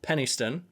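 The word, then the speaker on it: Penistone: Even says on it they're aware that the name sounds rude because it says um pronounced Penniston an unfortunately an unfortunate name for a town really especially when hyphenated but it's a bloody lovely place to live.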